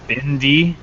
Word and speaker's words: Bandai: on I'll from premium Bandai because I can Dan it's pronounced bendy okay was pronounced Titi